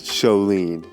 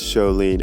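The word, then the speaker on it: Sjolin: Yeah, but let me you pronounce it wrong. It's Sholin Music. But I thought it was pronounced Sholin. No, it's Sholin. S-J... O-L-I-N.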